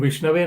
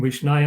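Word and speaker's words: Viṣṇave: It is mentioned in the scriptures that sometimes someone might pronounce the mantras in a wrong way. So instead of saying Om Vishnave Namah, someone might say Om Vishnaya Namah. So Om Vishnaya Namah is not the right way of saying, of offering obeisances to Vishnu.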